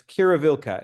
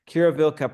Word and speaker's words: Quiruvilca: So I guess we'll start into you were close with the pronunciation. It's Qiruvilca is the name. Quiruvilca, Peru.